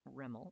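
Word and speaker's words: REML: residual maximum likelihood estimation which is pronounced rimmel as the acronym or instead of ml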